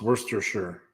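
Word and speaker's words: Worcestershire: Lester okay Lester also worst sh sh is pronounced Worster sure Worster sure sure okay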